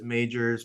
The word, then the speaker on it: Magers: Well, if you don't, so we had this conversation before we got started, and it is Magers, but maybe not spelled like Lee Majors, my That's other right.